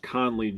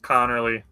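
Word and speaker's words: Conerly: Josh Connley Jr. out of Oregon. You mispronounced it. It's Connor Lee, bro. It's Connorly.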